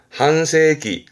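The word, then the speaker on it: 半世紀: 네, 댓글에 하반기 발음 한번 적어보시겠습니까? 이 데스네. 반도자죠. 반도체입니다. 한도타이, 한도타이. 뒷글자가 세기입니다. 기자에 썼죠. 반세기네요. 한세기, 한세기.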